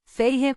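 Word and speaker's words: Feyre: Elaine pronunciou as 2 sílabas de meu nome, Feire, com o choro mais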